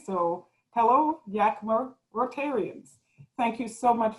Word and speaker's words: Yakima: me today well hello Yakima how do you pronounce it Rotarians I heard everyone say so hello Yakima Rotarians thank you so much for the invitation